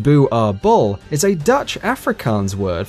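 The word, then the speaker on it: Boerboel: prey these dogs are illegal in Norway bubale pronounced boo are bull is a Dutch Afrikaans word for farmers dog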